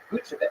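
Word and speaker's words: Vučević: Vucevic. Say his name again? Vucevic. So, yeah, that's pretty much spot on. Vucevic.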